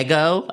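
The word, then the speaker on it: Ego Nwodim: and so uh it was hosted by uh Ego Ego Ego Wodm I I believe is how you say the beloved's name. Um she was fine. Yeah, she was fine. No, it's ego.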